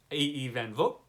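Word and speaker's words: A. E. van Vogt: A.E. Van Vogt. I found out recently that's how you pronounce it.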